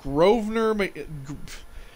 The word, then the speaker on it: Grosvenor: All right, knowledge of this Grosvenor, spelled with weird silent letters.